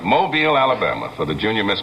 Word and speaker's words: Mobile: I was down in Mobile, I have to say it right, Mobile, Alabama, for the Junior Miss Pageant last evening.